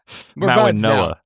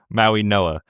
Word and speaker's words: Mauigoa: Francis Mauigoa, the offensive tackle, who I can pronounce his name perfectly this week? Mauigoa. Mauigoa.